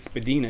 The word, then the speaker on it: Spadina: cover is hilarious now if you read that and thought it said Spadina you wouldn't actually be wrong because um that apparently was the original pronunciation and there is a